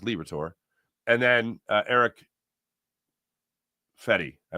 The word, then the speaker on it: Liberatore: I always want to say Liberatore, but it's just Liberatore.